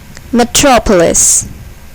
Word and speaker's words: metropolis: Here, the second syllable is accented. Ballistic. Metropolis.